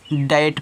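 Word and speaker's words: debt: और रूल्स है कि टी से पहले आया बी साइलेंट होता है यानी कि अगर टी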